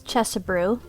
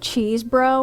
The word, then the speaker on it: Chesebrough: stories robert augustus chesabrew i always want to pronounce it cheese bro when i see his name anyways he was born